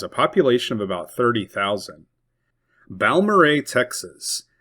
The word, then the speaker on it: Balmorhea: Balmorhea, Texas. Balmorhea probably sounds better than Balmeria, which is how it is spelled.